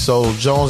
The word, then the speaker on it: Solo Jones: I know him as Solo Jones.